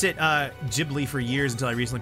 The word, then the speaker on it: Ghibli: movie night ah witness the awesomeness of Ghibli yeah I really like spirited away oh my uh it's pronounced Ghibli by the way thank you ah thank you